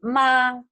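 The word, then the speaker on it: 妈: The first one is the first tone is ma, means mother, like mom.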